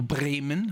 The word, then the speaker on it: Bremen: And I've picked a German artist called Michael Schmidt, or aka MSM Schmidt, based in Bremen, or Bremen, how you say it in Germany.